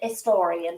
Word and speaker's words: historian: So for them, it would be, I'm an historian because the Well, H is silent.